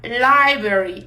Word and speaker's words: library: E sim, a gente teria um pouco de dificuldade por causa desse tanto de R, né?